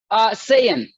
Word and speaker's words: Saiyan: How do you pronounce your last name? Saiyan.